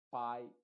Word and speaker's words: pie: En la combinación IE, esa E es completamente muda y la I se está pronunciando con su sonido original que es I.